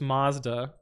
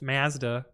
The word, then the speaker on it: Mazda: I can't write the pronunciation, but in the US this is Mazda, but in Canada it's Mazda.